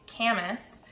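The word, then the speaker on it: Camas: city just to the east of vancouver it's camus your gps will steer you wrong i still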